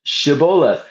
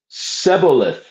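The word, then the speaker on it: Shibboleth: the Ephraites passed that way that they should pronounce the word Shabolith. But they being a different tribe pronounced it Sebolith.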